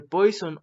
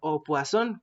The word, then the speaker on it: Poisson: veremos la distribución de poison wason como se debería de pronunciar ya que viene del francés este tipo de distribución